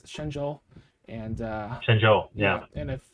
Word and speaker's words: Shenzhou: like the yeah shenzhou i used to call it shinzo but it's shenzhou and uh yeah and